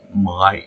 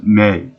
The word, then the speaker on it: Mai: Now, it's funny in this episode because I always thought that her name was Mai, as in mine, but they pronounce it as May.